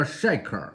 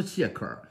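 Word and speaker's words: shekel: 实际上发音叫 Shaker 啊，不是谢克尔。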